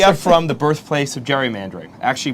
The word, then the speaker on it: gerrymandering: We are from the birthplace of gerrymandering, actually pronounced gerrymandering from Elbridge Gerry, the governor of Massachusetts, who coined the term.